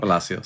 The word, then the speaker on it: Palacios: Um the the last three episodes I believe uh are directed by Alonzo Ree Riz Palacios. I'm probably saying his name wrong. Palasios.